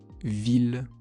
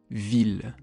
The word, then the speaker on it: ville: parfois selon les mots, ça se prononce il comme dans le mot ville. Une ville, un village.